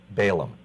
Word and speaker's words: Balaam: I'm never sure the pronunciation. Balaam. Balaam.